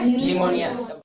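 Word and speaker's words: pneumonia: इसलिए इसको पढ़ते हैं साइकोलॉजी और इसको पढ़ते हैं निमोनिया। नेक्स्ट पढ़ो। कैच। कैच। क्या है? कैच। और कैच में क्या साइलेंट है?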